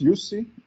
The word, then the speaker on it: Jussi: about you yeah so my name is yusi uh that's how you pronounce pronounce it so i